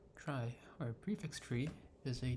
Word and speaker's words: trie: A try pronounced as try or prefix tree is a tree data structure used to efficiently store and retrieve keys in a data set of strings.